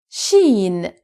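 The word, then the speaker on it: شين: Now, sheen. Sheen. Sheen is pronounced like the SH in the English word sheep.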